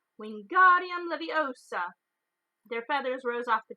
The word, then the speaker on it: Wingardium Leviosa: arms like a windmill you're saying it wrong Harry heard from my nice nap it's Wingardium Leviosa make the guard nice then long you do it then